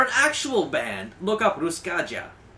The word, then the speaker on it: Ruskaja: actual band look up ruskaja i say it with a j because if i said it in the regular way you'd put a y in and that's not actually how it's pronounced and all that so